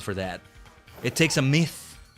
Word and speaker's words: Myth: the middle, T-H, and then it's pronounced Myth. Mostly the Japanese pronunciation, but like the katakana is written Maisu. And because both mice, as in plural of mouse, and the TH in myth, the end of it will be pronounced the same way, like a Z.